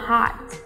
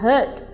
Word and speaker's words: heart: trái tim của em nhưng nếu như chúng ta phát âm là Hurt như rất nhiều bạn Việt Nam hay phát âm chúng ta sẽ có hãy đưa anh đến nỗi đau của em totally different right and